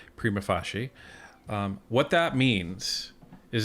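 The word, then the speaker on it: prima facie: called some people say prima FAS some someone some people say prima fashe um but however they're they're pronouncing it I believe the proper pronunciation is is prima fashi um what that means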